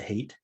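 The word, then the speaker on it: Haidt: dr hate uh it's spelled hyatt but he pronounces it hate um he also has a ted talk that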